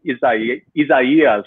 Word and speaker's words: Isaias: We had tropical storm, I think, Isaias with the proper pronunciation.